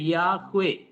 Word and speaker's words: യാഹ്വേ: ചേർത്ത് അവര് ഉപയോഗിക്കുന്ന പേര് യാഹ്വേ എന്നുള്ളതായിരിക്കുന്ന പേരാണ് ഇതാണ് കൃത്യമായിരിക്കുന്ന ഉച്ചാരണം എന്നാണ് വേദശാസ്ത്രികൾ അതിനെക്കുറിച്ച് പറയുന്നത് യാഹ്വേ എന്ന വാക്കാണ് ശരിയായിരിക്കുന്ന ഉച്ചാരണം എബ്രായ വ്യാകരണ നിയമങ്ങൾ അനുസരിച്ച് അങ്ങനെ ഉച്ചരിക്കുന്നതാണ് ശരി എന്നാണ് പൊതുവേ ഉള്ള വേദപണ്ഡിതന്മാർ